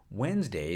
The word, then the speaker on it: Wednesday: the word morphed into Wednesday is just one example of words like February where letters appear in a word spelling but not in its pronunciation The Curious Case of